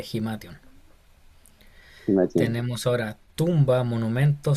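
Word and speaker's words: ἱμάτιον: Tenemos ahora vestido o ropa o manto, Esa es eh, Himation, que sería como, ese tiene, no se ve bien, pero tiene una respiración fuerte, sería Himation.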